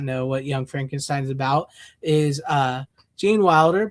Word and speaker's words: Frankenstein: And there he meets Igor because it's pronounced Igor because it's pronounced Frankenstein, not Frankenstein. He meets Terry Garr's character,